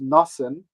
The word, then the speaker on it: Nathan: on the stage so i'm going to use the yiddish pronunciations that are actually in the libretto for the character so we have bathsheba who's pronounced basheva and nathan who's pronounced nassen and shalia which is